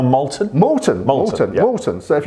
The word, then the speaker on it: Malton: Matt is the distiller here, and what a wonder, if you're ever in North Yorkshire, Malton, is it pronounced Malton? No, Malton.